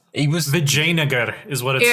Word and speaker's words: Vijayanagar: Because I was initially pronouncing it as Vijayanagar. And he's like, "Nah, mate, it's just pronounced Vijayanagar."